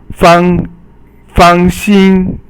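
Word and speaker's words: 放心: So fang xin, fang is fourth tone and xin is first tone, and xin means heart.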